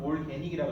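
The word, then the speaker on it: organic: 오가닉, 올가닉이라고 안 하고 사실 발음은 올게닉이라고 그러죠. 올게닉.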